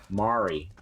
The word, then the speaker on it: Mari: Mari. Like, Mari Povich.